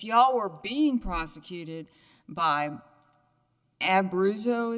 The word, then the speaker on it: Abruzzo: were being prosecuted by abuso is how you pronounce it then that might be